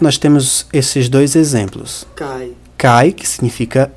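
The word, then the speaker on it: kaj: Kai, que significa E, e ailo. Você vê que a pronúncia do Kai, esse A com J, é o mesmo do A com I do português. Cai.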